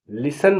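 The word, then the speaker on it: listen: माने जल्दी एल आई एस टी ई एन लिसन माने सुनना ओ एफ टी ई N often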